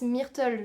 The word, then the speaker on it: Myrtle: me rappelle la maîtresse Myrtle je le prononce à la française de Tom a été